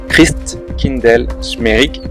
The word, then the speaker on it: Christkindlesmarkt: de Noël de Strasbourg, où en alsacien le nom se prononce Christkindlesmarkt, qui veut dire en